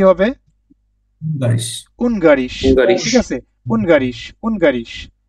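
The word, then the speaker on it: Ungarisch: এটা উচ্চারণটা কি হবে? বারিশ। উনগারিশ, হুঙ্গারিশ।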